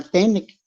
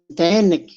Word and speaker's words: ten: Lo mismo para la palabra tenec. Ahí dicen tenec, así lo pronuncian ahora, pero es ten.